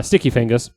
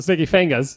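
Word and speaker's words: Sticky Fingaz: I don't blame uh sticky fangas that's how they pronounce it sticky fangas it is sticky fingas was it was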